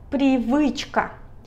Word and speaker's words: привычка: Pri, la P es como arco de fútbol, la R se escribe como P en español, luego la I, pri, pri. Luego está la V, como V, pero mordiendo el labio de abajo, así V, V.